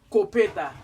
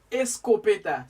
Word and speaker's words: escopeta: juntos hoy día escopeta hay gente que pronuncia esa palabra copete pero no es completa no pero es escopeta significa en créole física